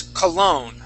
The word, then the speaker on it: cologne: Now this word here, the word is cologne. Okay. So just like hotel, the accent goes at the end of the word.